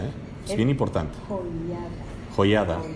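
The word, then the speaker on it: Joiada: olvid el nombre de juaida eh es bien importante joyada Perdón no pero no no se les olvide que les dije yo dije habl del que pronuncié no juaida es bien importante y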